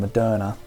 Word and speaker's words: Moderna: how you pronounce it i would have said mod enough but everyone's saying moderna so madonna pre-pre-market was